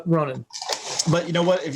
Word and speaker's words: Ronin: I heard oh god, one of the GR guys pronounce it Ronin, and I was like, is that on purpose? And sure enough, apparently that is the actual way it's supposed to be pronounced.